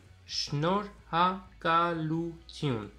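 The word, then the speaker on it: շնորհակալություն: Déjà, on va prononcer le syllabe par syllabe. Alors, on va entourer les syllabes. Shnor. Ha, ka, lu, tiun.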